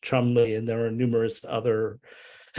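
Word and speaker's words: Cholmondeley: is like in Britain if you have the family name tremonly it's actually pronounced Chumley and there are numerous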